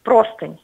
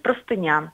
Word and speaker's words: простыня: Потому что правильно говорить «простыня». Чтобы удержать себя в рамках литературного языка, даже в быту, там, где вы стелите постель, правильно говорить «стелить простыню», а не «простынь».